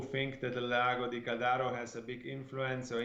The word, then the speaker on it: Caldaro: Caldaro. We always have discussion how you pronounce Italian names, and unfortunately I was wrong this time.